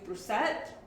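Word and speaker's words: Brusatte: the age of dinosaurs by steve brucette hello that's how he pronounces his name he is a paleontologist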